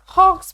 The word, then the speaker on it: Hawkes: He liked, अब देखें spelling में लिखा हुआ है HAWKES, हम इसे हॉक्स पढ़ेंगे, हॉक्स पे।